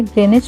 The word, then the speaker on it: Greenwich: तो चलिए अब ग्रीनिच पार्क देखते हैं। इसको बोलते ग्रीनिच पार्क हैं, बट इसकी स्पेलिंग ग्रीनविच होती है।